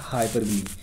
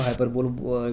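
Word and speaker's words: hyperbole: इसके बाद आता है हाइपर बली इसको हाइपर बोल भी कुछ लोग प्रोनाउंस करते हैं लेकिन इसका जो एक्चुअल प्रोनंसिएशन है इट इ हाइपर बली राइट हाइपर बली इन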